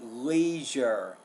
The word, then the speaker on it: leisure: pronounce the sound or you didn't know it needed that second syllable uh also I'd like